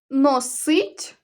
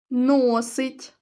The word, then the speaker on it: носить: говорять про ледачу людину зроби висновок про роль наголосу носить носить варить варить однакові за написанням слова можуть наголошуватися по-різному від цього змінюється і значення слова так говорять добре людина